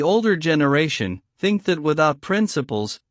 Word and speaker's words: principes: We, the older generation, think that without principles, Pavel Petrovich pronounced the word principes in the soft French way, while Arkady on the contrary pronounced it principle, stressing the first syllable.